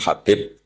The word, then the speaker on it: Habib: Ada yang nulis Abi Abdurrahman Habib Asulami. Itu di harakatnya kitab itu ada yang nulis khubab. L yang benar. Oh nggih. Yang benar itu bacanya habib. Habib itu sulami itu ikut marga Rabiah itu.